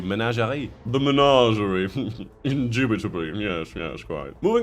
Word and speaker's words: Menagerie: The Menagerie. I don't know why I've said it like that. That's not even how you say it in French. In French, it would be Menagerie.